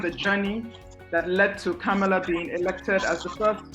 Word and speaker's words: Kamala: It is actually pronounced Kamala, as in comma, the punctuation mark, followed by la.